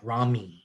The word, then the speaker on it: rami: pronunciation of that yes it does sound like r-a-w-m-e like rami and that's the way it's pronounced uh contain autonomic nerve fibers that join ventral rami in theoretic regions one